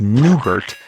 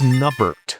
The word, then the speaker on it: Nubert: So, no, it's not pronounced new. It's Nubert.